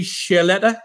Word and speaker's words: Ciarletta: So Ciarletta, is that right?